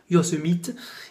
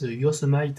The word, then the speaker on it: Yosemite: Je vous épargne la prononciation anglaise, puisque vous savez que j'ai un très bon accent. On va le dire à la française, Yosemite, et puis c'est tout.